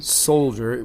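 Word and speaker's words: Souljah: by the way way it's spelled sister and then Soldier which is s o u l j a h and it was created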